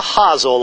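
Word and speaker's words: hosel: This is called the huzzle of the club. That's spelled H O S E L.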